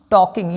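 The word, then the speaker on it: talking: अब कितने लोग टॉल्किंग इसको पढ़ते हैं। तो this is नॉट टॉलकिंग। इट इज़ टॉकिंग। ये साइलेंट होता है।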